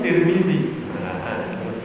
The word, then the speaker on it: Tirmidzi: yang belum dengar nih Tirmidzi Tirmidzi itu belum Tapi sama-sama benar mau dibaca tar benar mau dibaca tur benar mau dibaca Tir benar ya Karena itu adalah ilm aaj Jadi bebas cara membacanya Kal Saya punya Pesantren